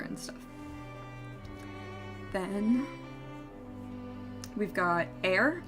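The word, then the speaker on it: Aer: stuff then we've got air I think is how you pronounce it memories of old it's spelled a-e-r and it's very similar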